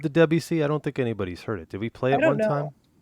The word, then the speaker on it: Debussy: How do I pronounce this guy's name? Oh, Debussy. Debussy.